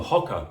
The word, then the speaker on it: Hoka: And I've just got rid of a pair of um hoka or hoka depending on how you pronounce it that I had